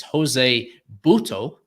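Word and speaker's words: José Buttó: more so than Jose I looked at the pronunciation it is Jose buto that's how he pronounces it and then we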